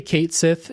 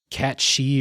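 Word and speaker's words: Cait Sith: still the game apparently Kate Sith is not the way you were supposed to pronounce that it's uh and I I can't remember how it's actually pronounced like cat shei or something like that and they that sucks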